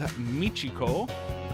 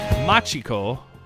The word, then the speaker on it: Machiko: And again, artist is Michiko. Whoops, let me say it right. Machiko Watanabe.